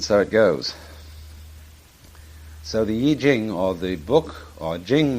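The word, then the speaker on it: I Ching: book of changes called the Y Jing not the Y Ching I'm afraid that the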